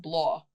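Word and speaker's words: Bláth: It's pronounced Blaw. Blaw? B-L-A-W. But I say Blaw.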